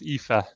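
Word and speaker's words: Aoife: people the way we immigrate so this is epha that you'll see and we have an epha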